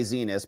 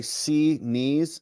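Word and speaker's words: Xinis: But Judge Zenus, we like to say Zenus because she's one of those people who I can guarantee you rages when you mispronounce it. Maybe Andy does too and I should be more respectful of that. but rages because when her court clerks say C knees C knees like you know I'm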